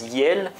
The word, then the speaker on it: iel: à la fois un on le prononce yel et on va voir